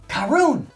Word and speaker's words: Caorunn: They spell it out, it's Caorunn. What did I say? Caorunn! Oh, it's Scottish! Caorunn! It's Caorunn! That's what they say.